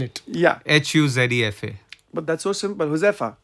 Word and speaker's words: Huzefa: Now spell it. Yeah, Huzefa. but that's so simple. Huzefa. Yeah. Yeah. Yeah. But it become Muzefa.